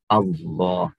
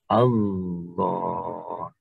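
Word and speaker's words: الله: lafadz tersebut bunyinya adalah Allah. Atau dalam tulisannya aslinya adalah al-ilahu. Al-ilahu. Sehingga ada al, sehingga lafadz secara khusus di sini, maka ditafkhimkan, menjadi ditebalkan pengucapannya menjadi Allah.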